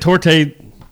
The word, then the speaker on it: torte: Well, I'm looking I'm looking on Google and actually the e can be silent, but in other countries it's pronounced with a e to the e to so there.